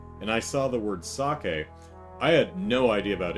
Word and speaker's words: sake: I read that word, I read it as sake, you know, using uh, you know, American English uh, uh, rules, pronunciation rules. So, I read that entire book as you know, and I read that as sake.